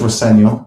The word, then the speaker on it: Rosenior: And just to clear it up, your surname is pronounced. My dad says Roseno, which is it is the way to pronounce it.